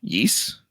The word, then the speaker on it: Ys: The first is, and you're going to have to correct me if I'm mistaken on my pronunciation of this game. Ys?